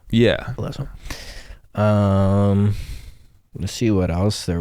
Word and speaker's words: Alesso: Alesso? Yeah. Alesso.